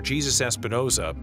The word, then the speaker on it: Jesus Espinoza: Production manager Jesus Espinoza, yes, that is the correct pronunciation, keeps the wheels turning in this complex reverse manufacturing process.